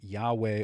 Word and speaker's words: Yahweh: Now, various esoteric traditions, by the way, may disagree with that, but the tetragrammaton is variously pronounced as Yahweh or Jehovah, but many Jewish adherents